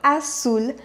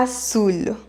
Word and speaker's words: azul: colore azul elle colore azul à savoir qu en amérique latine on prononce comme s'il y avait deux aces azul alors qu'en espagne on dirait à toul ar foule à savoir que